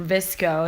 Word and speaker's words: VSCO: The next one is VSCO, or Visco is another way that people pronounce it.